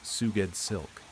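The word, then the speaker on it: Sgoueddslk: S G O U E D D S L K, pronounced Suged Silk.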